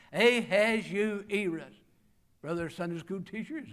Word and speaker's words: Ahasuerus: It's a little tough to pronounce, and I had to drill on it. Ahasuerus. Ahasuerus.